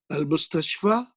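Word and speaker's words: المستشفى: Remember, al-mustashfa doesn't have a dot because the ya is pronounced like mustashfa, fa, like alif.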